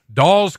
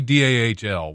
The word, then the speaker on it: Dahl: I heard he wants to buy Doll's Custom Meat Locker. He probably does. Probably does. Yeah. Why wouldn't you? It's actually DAHL, which it just sounds better than it looks when it's spelled.